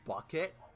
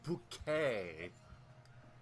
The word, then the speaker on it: Bouquet: was that she's like her last name is bucket but you will get really uppity if you ever call her bucket she pronounces it bouquet why why not why